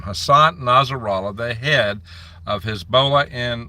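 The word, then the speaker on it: Hassan Nasrallah: blames the United States Hassan nazera I believe it's the way he pronounces his name Hassan nazera the head of hisbah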